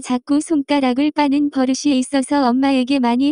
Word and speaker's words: 손가락: The pronunciation of this word is closer to 손가락.